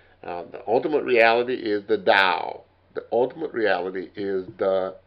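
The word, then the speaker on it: Tao: ultimate reality is the dao the ultimate reality is the dao and you're going to see and hear that again t a o which means the way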